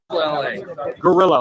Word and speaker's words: Guerilla: It's spelled Guerilla. Gorilla, like guerrilla warfare, Gorilla Publishing.